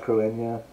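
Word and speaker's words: Cruithne: And it's spelled weird, by the way, but it's pronounced Cruinia. But it's spelled like Cruithni or whatever.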